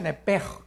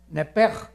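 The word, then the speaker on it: נֶפֶשׁ: La palabra alma es nepesh, en el hebreo, apúntalo, nepesh. Se pronuncia nepej, porque la CH en hebreo es j, nepej, y la palabra espíritu es ruach, se escribe ruach.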